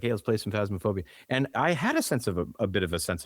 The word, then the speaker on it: Phasmophobia: I can never pronounce it right. Phasmophobia. Fasmophobia, right?